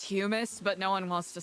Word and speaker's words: hummus: Hummus. It's, you know, it's natural grown from the ground. Oh, if you want to be pedantic about it, it is pronounced humus, but no one wants to say it like that.